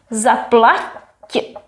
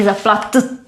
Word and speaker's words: zaplaťte: Zaplaťte. So it would not be zaplatte, but zaplaťte. We soften the t, so we have the same sound.